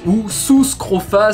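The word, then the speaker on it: Sus scrofa: petit nom latin suscrofats oussou scrofa si on fait les u comme en latin ou l'onu se prononce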